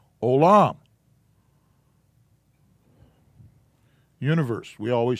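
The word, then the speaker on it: עולם: And this is pronounced O. And then this is the second syllable, and it's pronounced Lam. So it's pronounced Olam.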